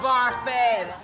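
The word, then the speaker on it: Barfée: It's pronounced Barfy.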